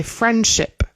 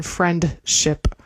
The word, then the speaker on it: friendship: We're going to say friendship more common than friendship.